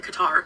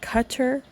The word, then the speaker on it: Qatar: how you pronounce that is it cutter or Qatar how do you pronounce it I'm going with cutter cuz that's how I've heard it pronounced but I be uh